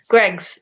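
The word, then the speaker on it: Greggs: greg's what's going on greg's is literally pronounced that way where the spoons is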